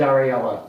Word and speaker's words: Ralph: It is R A L P H, but it is pronounced Ralph.